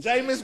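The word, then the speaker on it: Jameis: it's jamus j how you say his name jamus Winston jamus Winston all right this is just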